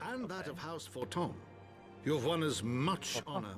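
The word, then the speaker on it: Fortemps: that of House Forton. You've won us much honor, my friend. The S is also silent.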